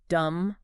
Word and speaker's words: dumb: end of words like dumb or lamb oh right yeah we don't pronounce that b no we don't that's